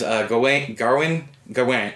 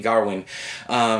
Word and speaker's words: Gawain: Dev Patel as Gawain. I've always said it Gawain, but I think it's actually Garwin, because that's how they pronounced it in the movie.